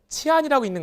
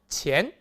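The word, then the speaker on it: 钱: 바랍니다 그래서 여기 나온 돈이라는 단어 도요 치환이라는 것이 아니라 어떻게 읽어라 치엔이라고 읽어야 겠죠 그래서 성조 이성을 넣어서 치엔 치엔 이것이 바로 돈을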